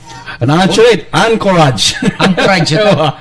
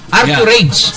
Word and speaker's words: Anchorage: Anchorage. Anchorage. That's my your pronunciation. That's my pronunciation. Is good. Archurage.